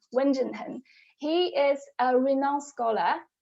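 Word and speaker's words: 文震亨: left hand side called wenjun hun so you don't have to memorize his name but just remember the pronunciation wen jin hen he is a renowned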